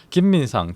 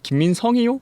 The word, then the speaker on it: 김민상: 어떤 사람들이 제 이름을 물어보시면 아 이름이 어떻게 되세요? 아, 김민상입니다 라고 하면 김민성이요? 김민송이요?